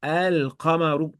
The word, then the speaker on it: القمر: Ici, lorsqu'on va coller une lettre lunaire à l'article, on va prononcer le lemme de l'article. Donc on dira elle, et tu verras, il y a un soukoun. Exemple, القمر، الكلمة، الماء، الأمر. très bien, al-qamaru. Donc ici, si tu prononces pas le lemme, tu dis al-qamaru, c'est faux. Il faut dire elle, on prononce le lemme.